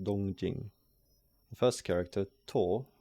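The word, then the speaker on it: 東京: Both readings are in on'yomi, that is to say, Chinese readings, and the same word in modern Chinese would be pronounced Dōngjīng.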